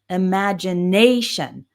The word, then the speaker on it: imagination: When you see t i o n or a similar one s io n, the stress is always on the syllable immediately before. So we have imagination, decision.